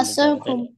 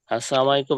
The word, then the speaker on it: আসসালামু আলাইকুম: কারো সাথে দেখা হলে কি বলতে হবে সালাম আসসালামু আলাইকুম আচ্ছা অর্থাৎ ফোনে কথা বলার সময় প্রথমে সালাম